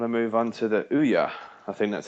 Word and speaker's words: Ouya: Speaking of a bit of a side step, I want to move on to the Ouya. I think that's how you pronounce it. Ouya.